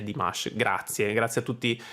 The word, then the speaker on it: Dimash: del nome per esempio di dimas che ho sempre detto dimas invece è di mash grazie grazie a tutti